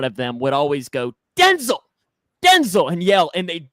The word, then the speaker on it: Denzel: It is actually pronounced Denzel.